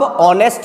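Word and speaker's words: honest: अब आप ऑनेस्ट बोल के देखो, हालांकि लिखा हुआ एच से है लेकिन इसका उच्चारण क्या करते हैं हम लोग, ऑनेस्ट।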